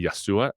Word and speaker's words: Yeshua: Isa is not really the Arabic way to say his name. It's really Yeshua, but the Quranic way to say Jesus' name is Isa.